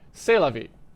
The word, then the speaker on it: c'est la vie: Eventually, I realized, or I guess c'est la vie, I should actually use my French pronunciation because I did have to learn that in high school. Sorry, c'est la vie.